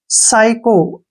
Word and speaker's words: psycho: और समझा देता हूं, PSYCHO, इसको हम हमेशा साइको पढ़ते हैं, क्योंकि जब भी एस से पहले पी आता है तो वहां पर पी साइलेंट हो जाता है।